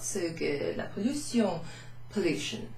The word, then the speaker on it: pollution: La pollution, pollution. So it looks exactly the same as the English. You pronounce this sion. La pollution.